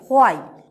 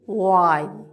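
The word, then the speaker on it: why: কারণের জন্য প্রশ্ন করছি আমরা বলছি হোয়াই খুব শক্ত করে উচ্চারণ করছি হোয়াই বাট আমাদের সাউন্ড সিম্বল কি বলছে আমাদের সাউন্ড সিম্বল বলছে I sound I that is ওয়াই নট হোয়াই আমাদের সাউন্ড সিম্বল বলছে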